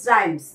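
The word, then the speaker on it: rhymes: এখানে এইচটা সাইলেন্ট আছে। আর ওয়াই এম এস রাইমস।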